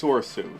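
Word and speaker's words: Soresu: It's Soursu.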